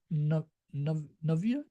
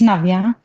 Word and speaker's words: Navya: Doc Navia, if I'm saying it right. Yes, Hello, Doc. yeah, it's Navya.